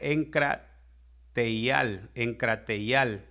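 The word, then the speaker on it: ἐγκράτεια: En algunas Biblias está templanza, en otras Biblias dice dominio propio, es exactamente lo mismo, y viene del griego 1466 y se pronuncia enkrateial, y el dominio propio es el fruto que nos permite no abusar, no llegar a los extremos.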